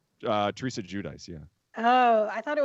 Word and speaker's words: Giudice: Like, Is that how you pronounce the name? Judice? Teresa Giudice, yeah.